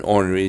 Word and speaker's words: ornery: The R in ornery is just another example of a sound that's dying out.